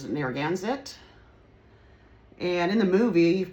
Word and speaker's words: Narragansett: I guess the way to pronounce it is Narragansett.